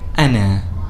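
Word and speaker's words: أنا: When hamza is on top of the alif, it is by default pronounced as a, with a little bit of a glottal stop.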